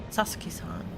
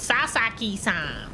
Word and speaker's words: Sasaki: And I'm like, "Sasaki, not Sasaki. Why do you have to be so weird?